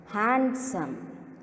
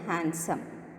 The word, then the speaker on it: handsome: had some pronunciation handsome so here D is silent so should not pronounce as handsome keep the D silent handsome meaning beautiful or attractive